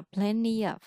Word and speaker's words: plenty: đúng không nó sẽ người ta sẽ bỏ tờ người ta đọc là plenty of plenty of plenty of